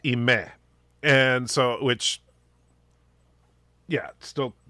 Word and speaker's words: Ime: my late sister-in-law uh her name was spelt i-m-e and it was pronounced imei and so which yeah